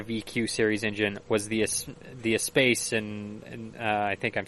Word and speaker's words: Espace: that had a VQ series engine was the Espace, and I think I'm saying that right. I don't know, the minivan. Yeah, in 2003. It's actually pronounced who cares. Exactly. Sorry. Espace.